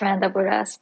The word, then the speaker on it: Rand Abou Ras: And today I've got, I hope I pronounce it correctly, Rand Abu Raz. Yes, it's Rand Aburas, but everyone calls me Randy on Twitter, so it's Randy.